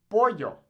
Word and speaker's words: pollo: Now, in places like Argentina, they'll actually pronounce this kind of like a J. So they'll say pollo, or llamar. Now, I personally don't speak like this. I speak a more Mexican-style Spanish. However, if you're interested in learning a particular accent like that, you can absolutely say that, pollo or llamar. But as a general rule of thumb, I'd say you should just say it like a Y.